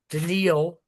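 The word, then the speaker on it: Daniil: His name is unpronouncable. It's d an i l denil.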